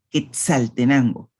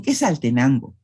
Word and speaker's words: Quetzaltenango: Hay algunas personas que dicen quesal, pero lo normal es decir Quetzal, Quetzaltenango. En otras palabras vamos a encontrar la simplificación. Por ejemplo, hay quienes dicen Quetzaltenango, no Quetzaltenango.